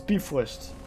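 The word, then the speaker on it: Bifröst: the light of the Bifrost to reawaken that's not how you pronounce that it's beef list okay looks like the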